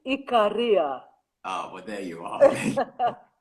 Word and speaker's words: Ikaria: should know is it am i pronouncing this right ikaria it's actually ikaria oh but there you